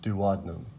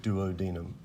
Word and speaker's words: duodenum: the small intestine okay that's the duodenum or duodenum both pronunciations are correct okay oh so those